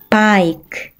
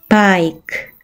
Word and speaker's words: bike: 첫 번째 단어, B는 B, I는 I, K는 K, 이는 발음이 나지 않고 한 번에 읽으면 bike, bike.